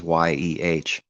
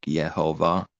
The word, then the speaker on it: יהוה: If it's not at the end, it is pronounced, like Yehovah. The H is pronounced because it's not at the end, but there's a H